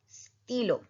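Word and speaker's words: stylo: स्टीलो. वाई का sound क्या होता है? ई. स्टीलो. Second is a copy.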